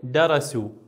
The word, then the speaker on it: درسوا: من الفظ هذا الفعل درسوا هل تشعر بالنطق الالف يعني الف زائده نرجع تكتب ولا تلفظ هنا غير ملفوظ هي الالف درسوا فقط صوت الواو يطلع عندي من الفظ هذا الفعل